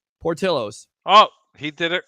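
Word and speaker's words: Portillo's: the place called it starts with a P Portillos oh he did it correctly how about that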